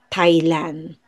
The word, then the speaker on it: Thailand: Or Thailand pala po yun. Yeah, we pronounce it as Thailand, Thai food ganon.